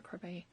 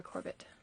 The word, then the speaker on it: Corbett: Yes, I did find out how to pronounce Nora's name, and it is Nora Corbett. Although it is a French name, so I got that part right. So I have to retrain myself to say Corbett.